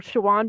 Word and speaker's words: Siobhan: because i knew somebody whose name is for shawan but they spelled it like gaelic spelling and then that set